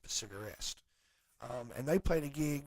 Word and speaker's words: Cigarest: pronouncing it right, but it looks like Cigarest. It's like cigar and est, Cigarest.